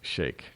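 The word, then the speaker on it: Sheikh: the so-called blind Shake I know some people pronounce it sheep but it's actually pronounced Shake now on the video a three judge ninth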